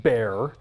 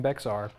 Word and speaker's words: Bexar: you on one thing I'm pretty sure it's pronounced bear tactile knife Co is based out of Texas